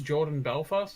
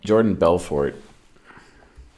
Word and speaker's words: Jordan Belfort: Jordan Belfast or something? Jordan Belfort.